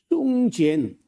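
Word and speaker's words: 宋健: 하고 우리가 귀에 익어서 80년대 하지 벌써 40몇 년 전인데 그때 그 숭젠 중국 사람 중에 숭젠이라고 하는 우리가 한자로 쓰면 송건입니다. 송건이라고 쓰는데 중국 사람은 숭젠이라고 읽어요.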